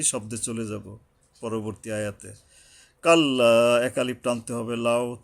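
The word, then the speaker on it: كَلَّا: কাল্লা, কাল্লা, এখানে একালিপ টান আছে।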